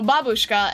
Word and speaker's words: babushka: The emphasis in babushka and dedushka lands on the first syllable.